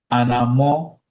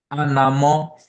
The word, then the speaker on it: anamo: Kukun duku, anamo or odunkun. Say the second one. On moho. Anamo, anamo. Anamo. That's right. Anamo.